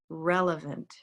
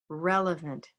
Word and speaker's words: relevant: We'll use the same pronunciation priorities with this next word, relevant, relevant. Can you hear the stress? Relevant. Where's that stress? First syllable, okay?